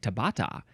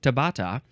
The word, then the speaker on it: Tabata: the next one is Tabata how do you pronounce this one it looks like Tabata Tabata yeah t a b a t a